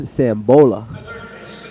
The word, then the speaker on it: Sambola: Coming up to the plate, we have Landon Sambola. Almost rhymes with NOLA.